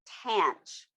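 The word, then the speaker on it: tanh: at all it's abbreviated with t-a-n-h and it's pronounced tant so when you say it you say tant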